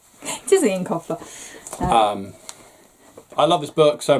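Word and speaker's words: Eoin Colfer: However you pronounce his name. It is Ian Colfer.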